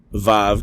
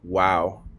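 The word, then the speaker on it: וו: pronounced vate or bait VAV can also be pronounced wow can also be pronounced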